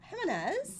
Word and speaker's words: Gimenez: I have Jennifer Gimenez. Yes. I pronounced it right?